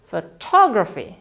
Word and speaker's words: photography: Sedangkan yang kedua ada y-nya. Jadi kita mengucapkannya dengan cara photography. Photography. Nah, pengucapan dan penekanannya beda ya.